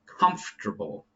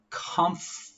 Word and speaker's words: comfortable: Number one, comfortable. So repeat after me. Comfortable, right? It makes an F. Like you're blowing, you blow out the birthday candles on a cake.